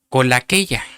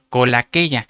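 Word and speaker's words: κολακεία: Me puse a buscarla, 2850, y es una palabra griega que se pronuncia colaqueia, con K, colaqueia, y quiere decir el que adula.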